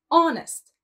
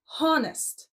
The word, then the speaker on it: honest: It starts with the letter H, but we don't pronounce the H sound. It's honest, not honest.